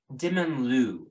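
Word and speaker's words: Dementlieu: Dimmonlu, I think, is probably your best bet. Ooh, easy to remember, sure. You bet. Dimmonlu. Won't mispronounce that or anything. Wonderful. Do your best. The T is silent.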